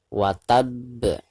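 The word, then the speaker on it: وَتَبَّ: di ujung bacaan ya jadi cara membacanya harus di pantulkan dengan suara pantulan yang lebih besar wattab jadi sambil ditasydidkan disertai dengan pantulan yang lebih keras ya Sekali lagi kita bacakan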